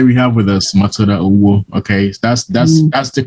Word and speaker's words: Owuo: So today we have with us Matilda Owuo. Okay, that's the correct pronunciation.